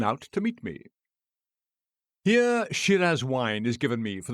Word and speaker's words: Shiraz: red weepings of the Shiraz vine, which rather looks as if he pronounced it Shiraz, whereas the real sound is Shir.